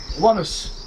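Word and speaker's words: Onehouse: vivit at one house that's pronounced oneness your majesty oh how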